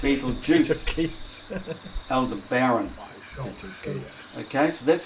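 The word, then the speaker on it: Betelgeuse: pronounce it Ryle serus Beetle geese pronounced Beetle Juice Elder Baron okay so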